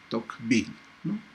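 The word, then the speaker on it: Tocqueville: Alexis de toque no parece que en francés se pronuncia como Alexis de Toc no pero la mayoría lo lee como Alex existe no bueno él es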